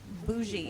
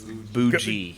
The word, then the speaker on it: boujee: beauregard and i was bougie wow drank a martini no you're mispronouncing that it's boujee hey you know what